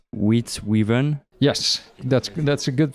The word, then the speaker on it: Witte Wieven: In original language, it's Witte Wieven. Yes, that's a good pronunciation.